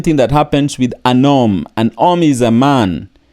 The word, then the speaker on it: homme: There is no sound of home in French. So it would be homme.